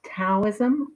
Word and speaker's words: Taoism: Okay, so the word Taoism is also sometimes pronounced as Taoism with a T, um, and it refers to the Tao, which means the way or the road.